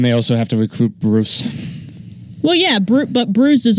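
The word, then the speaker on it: Brûz: And they also have to recruit Bruce. Well, yeah, but Bruce is also like the best thing ever. It's an Australian orc. His name is it's spelled B-R-U with an oolag Z, but it's pronounced Bruce.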